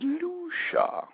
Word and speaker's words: Lucia: There's a whole lot of different ways to say it, but I understand the proper pronunciation is Lucia.